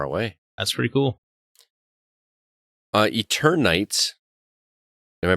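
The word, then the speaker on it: Eternights: that's pretty cool uh eternites am i pronouncing that correctly yeah eater night night eternity like eternal nights eternal nights ps4 ps5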